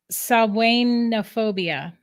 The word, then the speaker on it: Samhainophobia: It's technically Samhainophobia. um, Samhainophobia. I got to get it right because Samhain is it's spelled Sam Hain, but that's not how you say it.